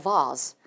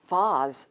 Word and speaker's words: vase: 자, 이 vase라는 꽃병은요. 흔히 영국 또는 호주식으로 발음이 될 경우에 이 자음 사이의 모음 A가 R로 발음이 되기도 합니다. 그러면 a vase, vase 이렇게 발음이 되기도 한다는 거 꼭 기억해 두셔야만 해요.